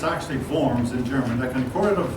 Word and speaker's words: Worms: Eventually, now this looks like it should be pronounced Worms, but it's actually Worms in German.